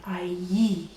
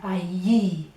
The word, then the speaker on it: allí: it's a lovely word allí over there allí sounds like someone down the market at Amble.